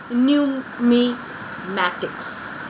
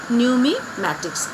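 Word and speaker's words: numismatics: here the study of coin is known as new me Mattox so how you pronounce it new me Mattox is this silent here okay so after that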